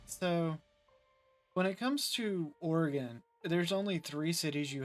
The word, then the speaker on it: Oregon: it's Oregon but I've heard I've heard people pronounce it origon uh how okay look look look or okay people that are from Oregon called oreganos No you're you got a orgon